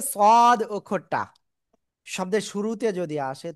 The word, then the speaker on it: صاد: সদ। অনেকে বলেন সআদ, না, সদ, সদ, সদ, ঠিক আছে, সদ, চার লিপ টান।